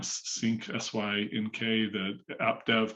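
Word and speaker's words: Snyk: gcp on it um i always say the name wrong sync sy nk the app dev company that's doing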